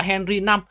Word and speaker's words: Henry V: Các bạn lưu ý là đây là Henry V nhưng mà đáng ra các bạn phải đọc là Henry 5 nhé, tại vì 5 ở đây là số La Mã.